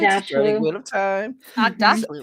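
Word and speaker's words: Aghdashloo: Agdashlu, right?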